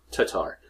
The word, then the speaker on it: Tatar: No, it's not tartar. There's no first R. I don't know. Tatar.